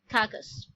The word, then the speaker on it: carcass: जो R है वो थोड़ा साइलेंट है, सो इट्स कैकस.